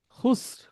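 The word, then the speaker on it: خسر: খুসর, খুসরিনা, যখন আপনি থেমে যাব, খুসর রটা উচ্চারণ হবে, কিন্তু রিটা আর আসবে না, খুসর। খুসর অর্থাৎ ভাওয়েল ছাড়া লাস্টে যদি আর থাকে, ভাওয়েল, আর এর আগের কোনো ভাওয়েল নাই, ওইভাবে করে আরটা উচ্চারণ হবে খুসর।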